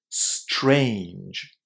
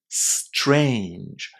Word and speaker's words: strange: So it's strange. Strange. Very very hard. Did you know that when t and r are together in English, the letter t is pronounced as a ch?